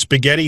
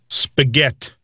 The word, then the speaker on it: spaghetti: say prosciutto no now does spaghetti have a strong t or a d sound spaghett spaghett yes yeah that's kind of